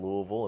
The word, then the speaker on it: Louisville: You got say like you got to say it like you have a bag of rocks in your mouth. That's the Yeah. try to move your mouth as little as possible as you say it and you'll come out okay.